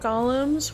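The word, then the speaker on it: GAULEM: We know about Gollums. We met one earlier. His name was G- Ool, pronounced Gollum.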